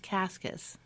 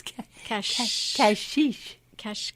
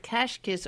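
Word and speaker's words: Cascais: your last week Kathy it's not pronounced kaskus it's cashy Kesh okay yeah the S has like a shish sound so cache kiss or a Estoril portugal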